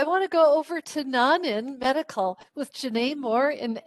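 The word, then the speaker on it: Nonin: So yeah, we are Nanin Medical, and one kind of easy way to remember Nanin and how to say it is we come from non-invasive measuring devices. That's what our line of business is in. So if you think non-invasive, you'll think Nanin.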